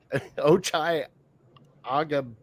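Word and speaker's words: Ochai Agbaji: It's Ochai Agabiji.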